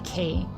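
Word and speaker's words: quay: pronounce uh q u a y is k.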